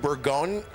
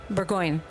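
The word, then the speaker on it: Burgoyne: Um in that song you named uh you name checked your then roommate Martin pronounce it for me Martin Burggon Burggoyne.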